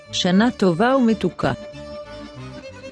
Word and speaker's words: שנה טובה ומתוקה: So we pronounce this as שנה טובה ומתוקה, שנה טובה ומתוקה, Now it's time to see the letter Sin.